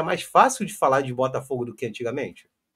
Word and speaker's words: Botafogo: de de estados diferentes, quando pronunciam Botafogo, pronunciam de forma diferente. O mineiro fala Botafogo. O pessoal do subúrbio aqui do Rio de Janeiro, tem muita gente que oriunda de Minas fala Botafogo, entendeu?